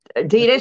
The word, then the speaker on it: Adidas: they were some classic Adidas Reebok I mean Adida Classic Shell Toes is it Adidas or am I am I pronouncing it right wrong or Adida Adidas she said right yeah Adidas yeah people yeah